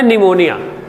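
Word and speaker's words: pneumonia: की बात नहीं है अंग्रेजी का एक शब्द है निमोनिया तो लिखते क्या है आप पी एन ई यू एम ओ एन आई ए लेकिन पी कहां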